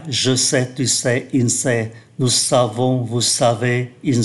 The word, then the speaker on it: sait: Ở thì hiện tại, je sais, tu sais, il sait, nous savons, vous savez, ils savent. Ba ngôi số ít cũng phát âm giống nhau nhưng mà viết khác nhau.